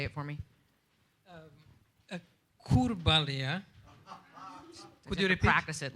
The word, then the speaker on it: Kurbalija: Kurbalija. Could you repeat? Practice it like a mantra. That'll. I think Irina can pronounce it.